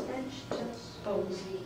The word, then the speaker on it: vegetables: How many syllables? Vegetables. 3 syllables.